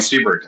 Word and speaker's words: Seabrook: Do you say it Sia? Is that how you say it? No, it's Seabrook, actually.